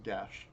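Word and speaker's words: geas: is a welsh word how the do you pronounce gesh gus i think it's actually pronounced gesh spell it g-e-a-s but it's welsh so the letters don't matter i'm pretty sure it's just still it's it's pronounced uh gesh ghost under effects of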